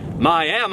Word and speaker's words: Miami: I should note that this next town is spelt Miami, just like Miami, Florida, but this is Oklahoma, so it's pronounced Miami.